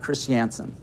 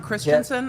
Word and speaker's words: Christiansen: way never once told Eric Christiansen he's not Christensen I pronounced it wrong the entire podcast yesterday